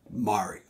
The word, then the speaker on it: Mario: In Italian, and the way the French pronounce it, it is Mario. So he grew up going by Mario.